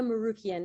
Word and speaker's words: Morukian: ince yourself hello everyone Maria marukian it's Armenian Armenian thank you hello welcome